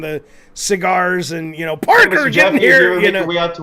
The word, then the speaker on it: Park: sir Park um am I park or pack what what is your name part actually pack is is the the Korean way you would pronounce it like yeah I look I'm looking because I can't read the font on the screen I'm like did I type pack it's Park good pack would pack pack